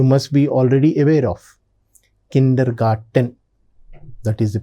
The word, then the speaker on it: Kindergarten: Kindergarten. That is the pronunciation in German.